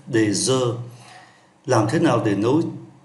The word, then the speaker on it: œufs: Một trái trứng chúng ta phát âm là un œuf. Nhiều trái trứng chúng ta phát âm là des œufs, un œuf, des œufs.